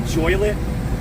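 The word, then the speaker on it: Joliet: Where I just was called Joylet, rhymes with toilet, and Romeoville, as in the play Romeo and Juliet.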